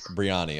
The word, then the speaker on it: Brianny: Our first question we have to clarify this is uh do you pronounce your name Breanna or Breanna? Breanna, okay.